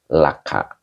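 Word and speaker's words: لك: Kalau ketemu domir mutasil, cara bacanya tidak li, tetapi la. Laka gitu ya.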